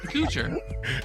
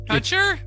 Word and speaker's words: Kutcher: Coocher. Asshole Isn't that- Coochie, yes. Is that how you say his name? Yeah, Coocher. asshole Coochie. Coocher. That's what I've been saying. No, Kutcher? Kutcher. Kutcher? Not Coocher.